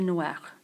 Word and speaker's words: noirs: J'ai les cheveux noirs. Notice that the word cheveux is plural, so there should be an S on the word end of noir. J'ai les cheveux noirs, although you don't pronounce it.